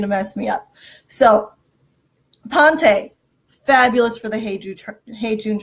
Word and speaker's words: Ponte: So it is pronounced Ponte, P-O-N-T-E, Ponte.